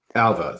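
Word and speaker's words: Ailbhe: I remember that the B is not a B. Yeah, the BH sounds like V in Irish, Right.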